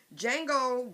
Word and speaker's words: Django: but pronounced d Jango the D is silent as he says in the movie with Leonardo decaprio Samuel